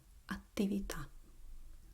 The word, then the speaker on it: attività: And then the last word is double T, like attività.